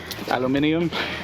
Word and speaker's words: aluminium: that's not bad that's aluminum aluminum aluminum aluminium as the Brits say and with the help